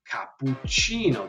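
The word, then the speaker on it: cappuccino: even other things like capucino the CI give us gives us an understanding of the chi uh sound in Italian um or we can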